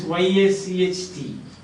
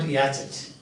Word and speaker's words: yacht: For example, somebody was teaching like this, YACHT, and then the teacher pronounced it like that, Yachet. It's normal. YACHT, Yachet. We will also pronounce it like that. But the pronunciation is Yacht, not Yachet.